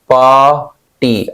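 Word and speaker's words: ex parte: क्या बोलेंगे मेरे भाई एक्स पार्टी पाटी आर को साइलेंट कर देना है मैंने बताया ऐसे वल के बाद आर होता है तो साइलेंट हो जाता है एडजेक्टिव होता है इस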